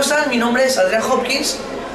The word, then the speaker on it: Hopkins: Adrian Hopkins, age 19. Now, I don't pronounce the H, but he does.